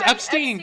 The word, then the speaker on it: Epstein: yeah but epsteen epsteen epsteen know it was Epstein got darted I actually said it right well